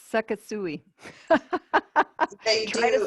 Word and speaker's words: Sekisui: It's Sekisui. They Try to spell that.